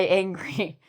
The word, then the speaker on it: angry: I angry. What did I forget? I'm. So angry. There's no H.